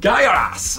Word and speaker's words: Gaiares: Can you say? Guy R Us! Det är bra att man får en t-shirt. Ja. Där man ändå vet hur man uttalar spelet.